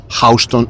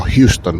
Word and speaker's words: Houston: pero os habréis fijado Cómo ha pronunciado Houston y no Houston bueno esto tiene esto